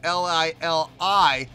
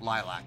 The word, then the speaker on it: Liliac: Now that I clearly see it's L-I-L-I-A-C, I would never call that Lilac, ever. Never in a million years. So it's obviously, you know, L-I-L-I-A-C. So Liliac. I hope I'm pronouncing it right. I guess we'll find out in the comments.